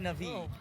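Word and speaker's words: Na'vi: And it's pronounced Navi, bro.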